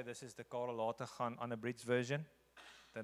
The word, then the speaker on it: Lategan: good that's ok the the G becomes an H I'm aware to it